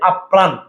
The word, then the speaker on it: আপ্রাণ: একবার উচ্চারণ হয় আর শব্দের মাঝবা শেষে র ফালা যুক্ত বর্ণটা দুইবার হয় হ্যাঁ প্রথমবার হসন্ত চিহ্ন দিয়ে আর দ্বিতীয়বার র ফালা দিয়ে যেমন ভাইয়া আপ্রাণ তাইলে ভাইয়া একদম সহজে